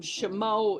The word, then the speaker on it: Chaumont: know now the reason shimo is pronounced the way it is is because it was named for James Laray des shimo and his family and that is the French pronunciation the members of the